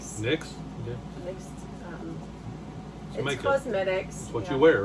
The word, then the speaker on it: NYX: uh nyx uh what is ny nyx it's pronounced nyx nyx cosmetics that's what you wear right cosmetics you